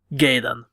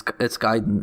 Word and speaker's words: Gaiden: Gaiden. It's Gaiden in Japanese. Yeah, I know. They don't pronounce A as an E in Japan.